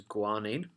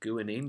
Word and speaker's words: guanine: in DNA we've got G which is guanine or guanine depending how you want to pronounce it and then we